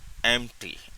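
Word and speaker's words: empty: है ना एम्प्टी में यह पी थोड़ा सा साइलेंट पढ़ा जाता है एंप्टी एंप्टी मींस पी थोड़ा सा लिया जाता है लेकिन उस पे जोर नहीं दिया जाता एंप्टी पॉकेट ऑन द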